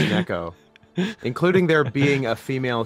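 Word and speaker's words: 猫: Imagine watching Japanese wrestling for 25 years and not knowing that any KO is pronounced Neko, including there being a female cat girl wrestler named Neko Nitta.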